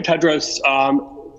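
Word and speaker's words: Tedros: for the question and the correct pronunciation of my name is dr. Ted Rose greetings to you again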